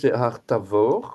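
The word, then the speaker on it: הר תבור: du Tabor voyez alors en hébreu haravor on prononce un V quoi et c'est vê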